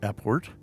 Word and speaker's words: apport: well so now we've talked about how to pronounce a port that's it what is an airport so i